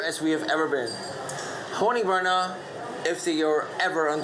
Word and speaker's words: Honningbarna: Kato, do you know how to pronounce the band's name correctly? Yeah. Honningbarna.